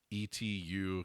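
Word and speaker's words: Étu: Planet Etu, which is I actually asked in the Kickstarter how they expect us to pronounce ETU capital C, and apparently that's it. Etu. So Planet Cute backwards Etu, which is currently on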